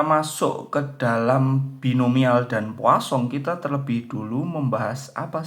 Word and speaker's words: Poisson: Nah, ini ya, ini bacanya Poisson.